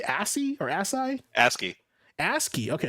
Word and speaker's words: ASCII: Do you say ASCII or ASCII?